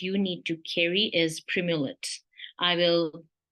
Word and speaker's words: Primolut: The third most important prescription medication that you need to carry is Primulet. I will spell it out for you.